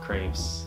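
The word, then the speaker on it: crêpe: You have your typical ramen, pho, sandwiches, tea, crepes. I call it crepe because that's how you say it in French.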